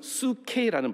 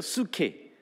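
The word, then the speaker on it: ψυχή: 헬라 발음은 원래 헬라 발음은 수케라는 발. 다 같이 따라해 볼까요? 수케.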